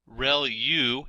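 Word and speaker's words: ReLU: There are multiple hidden layers like convolution layer rel u is how that is pronounced and that's the rectified linear unit that has to do with the activation function that's used.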